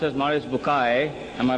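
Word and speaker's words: Bucaille: and a scholar of quran dr maurice bukhail pronounced as maurice bukai am i right doctor doesn't matter okay he's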